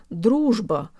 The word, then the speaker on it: дружба: Russian R's are actually a lot easier than people think. Let's say the word dittO really fast. dittO. dittO. It almost helps to think of the two T's as a D sound.